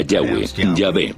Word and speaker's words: Yah: íntimo y personal que normalmente se pronuncia yah los pasajes con el